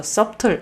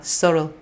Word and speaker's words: subtle: 물소리 내주는 경우가 많죠 써 틀 이렇게 내는 사람들 많은데 물소리 묵음 이에요 썰어 썰어 이렇게 소리 납니다 저도 굉장히 오랫동안 이수련